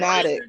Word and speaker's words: zoonotic: It's not zoonomic. You ain't even saying it right. okay, No, well, you anyway, said it right. Zoonotic. Right, bro. It's zoonotic.